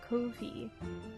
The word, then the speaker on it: Ko-fi: I don't know, some people pronounce it Coffee, some people pronounce it, Ko-fi.